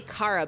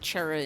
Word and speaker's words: Chara: I guess you would say Kara because it's short for character. But I always pronounce it Chera in my head because it is a CH like cheese.